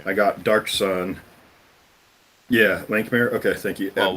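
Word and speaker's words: Lankhmar: would buy the sets for like expansions, like Lankmar. I bought that set. yeah, like me. I got Dark Sun. Yeah, Lankmare.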